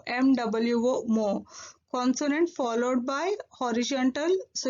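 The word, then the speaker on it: 뭐: So what is Korean is mo. Actually what in Korean is muat. What in Korean is muat. For simplification and simple use, we are pronouncing what in Korean is mo. M-W-O, mo.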